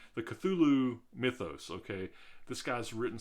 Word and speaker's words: Cthulhu: character right his mythos some people will say uh katulu depending on how it's spelled some people will say